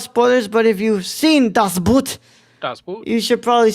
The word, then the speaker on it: Das Boot: Das Boot. German pronunciation. Das Boot.